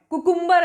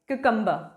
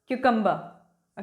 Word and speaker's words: cucumber: कुकुम्बर आप बोल सकते हैं ना, CUCUMBER देख लिया तो कुकुम्बर, no, that is the wrong pronunciation. The right pronunciation is क्यूकम्बर, क्यूकम्बर।